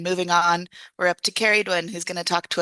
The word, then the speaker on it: Ceridwen: Is it Ceridwen? Ceridwen. Ceridwen. I'm Think close. think about County Kerry Oh and then yeah. add a Dwen.